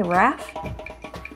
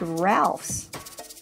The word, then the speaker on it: Ralphs: a big grocery store did you say raft no I didn't I said Ralphs how do you spell